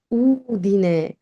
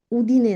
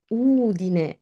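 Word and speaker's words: Udine: অনেকেই বলে উদিনে থেকে এসেছি, না, উদিনে, উদিনে, উদিনে না, উদিনে।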